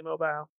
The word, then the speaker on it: Mobile: it mobile or mobile it's pronounced both ways when it's a city in Alabama it's definitely mobile it's just funny I